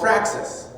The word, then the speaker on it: praxis: Appreciating intersectionality also helps with something that's called praxis. Praxis, it's spelled P-R-A-X-I-S.